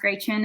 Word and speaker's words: Gretchen: kid um that's why my name is pronounced gray chin and not gretchen um it's a german pronunciation um but so i